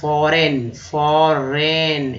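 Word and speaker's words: foreign: विदेश, फॉरेन, देखिए GN जो है न पढ़ा जाएगा, यहाँ पर G जो है ये है साइलेंट, G जो है साइलेंट रखा गया है, तो ये फॉरेन हो गया, फॉरेन।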